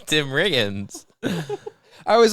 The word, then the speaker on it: Riggins: come out here and you say Tim Higgins instead of saying Tim Riggins, and you mess up the entire take by mispronouncing the star of the Dillon Panthers football.